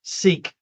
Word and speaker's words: Sikh: and when I say seeik it's it's s i kh it's how they spell it it's pronounced seek all right and so